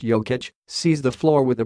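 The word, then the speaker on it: Jokić: is something I admire Jacques ik pronounced yo kitch sees the floor with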